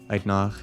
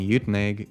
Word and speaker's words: Uitenhage: Uitnag is the way one says it if you're Afrikaans, and Uitenhage is the English pronunciation, I think.